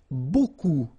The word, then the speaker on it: beaucoup: Remember, you don't pronounce the final P, okay? And then you get this combination of vowels, E, A, U, and you get the sound O. So technically it's beaucoup, okay?